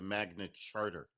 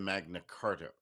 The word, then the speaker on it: Magna Carta: Jury nullification came to light after the Magna Charta, which by the way is the correct way to say it, the Magna Charter, not the Magna Carta of 1215.